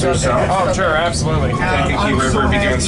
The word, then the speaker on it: Kankakee: How do you pronounce it again? Kankakee.